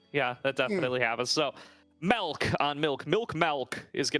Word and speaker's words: Milk: So that's probably going to, as we're being asked to call him Melk, Melke.